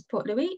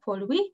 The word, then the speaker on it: Port Louis: city of mauritius is port louis and this is pronounced more like pollui which is really the